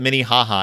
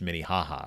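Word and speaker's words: Minnehaha: like that too but no one can believe that Minnie haha is actually pronounced mini haha around I know right that's like mini haha yeah it's just mini haha I don't understand what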